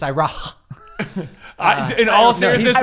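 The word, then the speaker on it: Iroh: first of all it's eero it's actually iro is my favorite character in that show you're making it sound like the h is silent it's ira in all seriousness right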